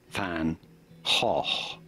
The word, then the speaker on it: van Gogh: But like a ha, ha. Same sound at the beginning and at the end. Ha. Vincent van Gogh is how the Dutch say it, like it or not.